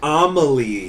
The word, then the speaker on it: Amelie: Her name is pronounced Amelie here.